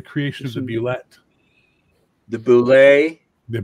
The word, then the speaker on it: Bulette: The Boulet. The Boulet. Attention. I published the correct pronunciation with the monster in July of 1976, okay. Dragon number one. Boulet. Why? Because I said so.